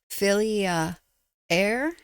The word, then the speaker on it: Fylgija: The best phonetic pronunciation I got well I don't know if it was the best one but it's the one I got filia air.